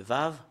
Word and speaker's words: ו: le voir directement le vave voilà la lettre V voilà la lettre V c'est vave ou c'est V qu'on le prononce c'est vraiment très très